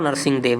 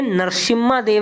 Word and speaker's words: नरसिंह देव: और नरसिंह देव का नाम इनका नरसिंह देव है लेकिन इंग्लिश में नरसिमा देव लिखा जाता है इंग्लिश जो स्पेलिंग है ना उसमें एम भी आता है इनके नाम में ठीक है तो ट्रांसलेट करते समय कुछ किताबें नरसिंहा देव दिखाती है रियल में यह नरसिंह देव प्रथम है बात क्लियर है जी